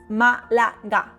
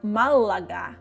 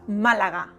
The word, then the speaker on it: Málaga: Just Malaga. No, Malaga. The L is quick, not Malaga, but Malaga. Quick. The G is soft, not ka or ka, but ga. Repeat. Ga. Malaga.